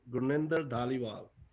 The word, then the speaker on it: Gurninder Dhaliwal: Let me correct you. Gurninder Dhaliwal.